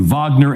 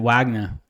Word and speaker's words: Wagner: Maybe they pronounce it Wagner. You see? Wagner. Wagner. Right? But it's with the W, right? It's probably just like a Russian thing where W It's a Russian sound like thing, a B.